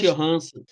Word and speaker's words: Johansson: E a Scarlett, como é que é a pronúncia do Scarlett? Johansson.